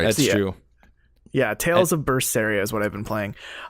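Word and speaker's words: Berseria: yes tell me what language is that it's pronounced bursts area and it's in the language of Japanese fantasy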